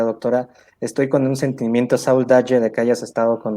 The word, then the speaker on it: saudade: ¿Es saudare? Saudade, saudade.